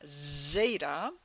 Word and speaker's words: Zeta: is Zeta Ada Theta it all has the a sound at the end but it's starting with first like the z z sound Zeta then comes Ada which